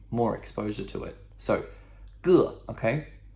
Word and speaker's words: 个: So, 个, okay? 个.